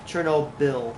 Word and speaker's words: Chernobyl: Chernobyl, like file, whatever.